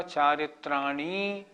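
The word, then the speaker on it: चारित्राणि: दूसरी बात जहां छोटी इ हो वहां छोटी इ बोले। जहां बड़ी ई हो वहां बड़ी ई बोले जैसे एक सूत्र आएगा अभी पहले भी आया था सम्यक दर्शन ज्ञान चारित्र्राणी ये छोटी इ हमने बोला चारित्र्राणी तो यह बड़ी ई हो जाएगी यह गलत हो जाएगा छोटे ऊ को छोटा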